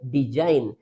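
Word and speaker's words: design: इसीलिए जी लेटर यहां पर साइलेंट रहेगा। तो इसको हम रीड करेंगे डिजाइन।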